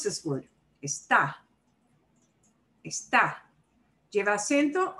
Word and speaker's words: Está: Está. Está. ¿Lleva acento o no? Sí, lleva acento. It does need an accent mark.